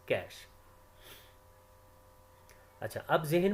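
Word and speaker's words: cache: type of memory is कैश memory which can be pronounced as कैश अच्छा अब जहन में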